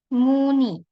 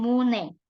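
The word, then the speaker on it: 무늬: Nah, kalau ada konsonanian, meskipun dia di akhir, dia dibacanya sebagai I. Jadi, muni. Muni. Bukan mune.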